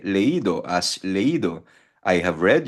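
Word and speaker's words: leído: Ah magbasa magiging leido yung i magkakaroon ng accent mark. E leido as leido i have read.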